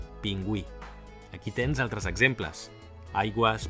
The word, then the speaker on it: pingüí: Per exemple, oi que no diem "pinguí"? Gràcies a la dièresi sabem que hem de pronunciar la u: pingüí.